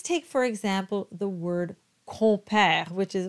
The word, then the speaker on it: compère: con and père, and the M is simply not pronounced. It belongs to the O to give it that nasal quality.